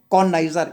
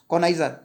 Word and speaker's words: connoisseur: A critical जज ऑफ एनी आर्ट and craft, तो उसको बोलेंगे कॉनाइजर। इसकी स्पेलिंग आती है कॉनाइजर, CONNOISSEUR, कॉनाइजर।